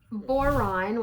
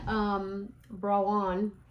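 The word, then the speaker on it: Boiron: So boron, which I do not pronounce that correctly. It's French. Brawn. I still can't say it.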